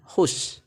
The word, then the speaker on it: whose: Cara bacanya whose. Jadi we ini seakan-akan hilang, teman-teman.